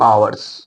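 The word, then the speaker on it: hours: 2 आवर्स, फॉर 2 आवर्स, आवर्स as silent है, आवर्स कहेंगे, ये इसको हावर्स नहीं कहेंगे।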